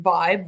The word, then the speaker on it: VYB: quick little recap so Vibe spelled VB but pronounced Vibe Vibe was introduced as a new platform in